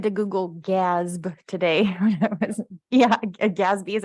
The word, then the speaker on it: GASB: you I had to Google gasp today yeah gasby is how you say it okay I say